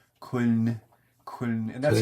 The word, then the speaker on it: Köln: spelled the way they spell it is K O with the umlauts L N. So spelled Köln, but the way they say it with the accent and then the way they pronounce the O with the U with